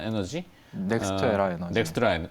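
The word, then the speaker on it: NextEra: 그래서 이제 미국 쪽에 이제 대안을 떠올리신 것 같긴 한데 최근에 그 분석 자료 보니까 미국의 유틸리티 기업인 넥스트라다 에너지, 넥스트에라 에너지. 넥스트라 네.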